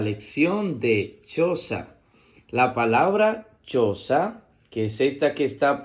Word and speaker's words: choza: que está por aquí, se escribe con C, H y O, que suena cho. En este caso, la letra H no es muda porque tiene la letra C delante. Va a sonar cho.